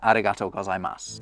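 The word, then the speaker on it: ありがとうございます: that the first time, arigato gozaimasu, other than my apparent Spanish accent? I didn't pronounce that U that you can see at the end. And that's because you don't.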